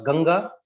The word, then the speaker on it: Ganga: am the gun the i don't know how to pronounce it in english like uh ganga i would say in hindi yes uh in english it's called ganges but you can you can say ganga yeah so uh ganga